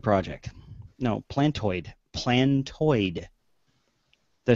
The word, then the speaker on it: Plantoid: This is the Planetoid Project. No, Plantoid.